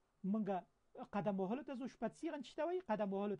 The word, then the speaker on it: spazieren: ته ځو wir gehen ins Kino wir gehen spazieren مونږ قدم وهلو ته ځو spazieren چې ته وایي قدم وهلو ته spazieren ګوره